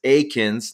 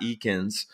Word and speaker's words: Eakins: I asked Kyle Hewitt it's Aikens not Eakins I know I messed